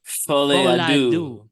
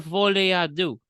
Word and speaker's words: Folie à deux: Joker Folie à deux. Folie à deux. Joker Folie à deux, which is the forthcoming psychological thriller from director Todd Phillips, and it's a sequel to 2019's Joker.